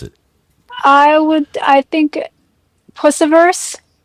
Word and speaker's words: Pusciverse: Okie dokie, let's shed our earthly skins and head into the Pusciverse with Carina Round.